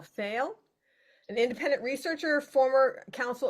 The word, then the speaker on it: Pfeil: And Yeah, the pronunciation of my last name is Pfeil.